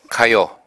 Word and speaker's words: 가요: 가요, 가수. 가요와 가수는 모두 노래 가자가 들어 있습니다. 노래 가자는 길게 읽지 않고 짧게 읽습니다. 그래서 가요가 아니고 가요, 이것도 가수가 아니고 가수, 이렇게 발음을 하게 됩니다.